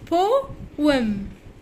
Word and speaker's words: poem: هي أربع حروف P و O PO، والإي هننطقها بصوت الأ، وبصوا كده تعالوا ننطقها poem poem poem poem، قصيدة.